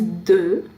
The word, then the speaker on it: de: Okay, now we'll look at the first one, which is de. How do you pronounce it?